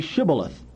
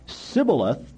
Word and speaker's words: Shibboleth: If he replied, "No," they said, "All right, say Shibboleth." If he said Sibboleth, because he could not pronounce the word correctly, they seized him and killed him at the fords of the Jordan.